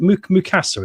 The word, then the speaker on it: Mukasa: Is it Mukasa? Is that correct, Wayne? Yeah, Mukasa.